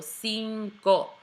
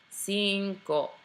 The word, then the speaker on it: cinco: right and lastly here the first C is a soft C the second one is a hard C so Cinco Cinco one more time from